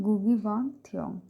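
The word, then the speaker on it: Ngũgĩ wa Thiong'o: इसका प्रोनाउंसिएशन है गुगी वांग थ्योंग।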